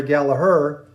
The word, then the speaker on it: Gallagher: After that, we have Rory Gallagher, or in Ireland, pronounced Rory Gallagher.